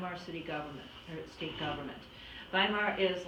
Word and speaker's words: Weimar: Weimar are spelled WP on they are they pronounce it by mark but in any case by the time we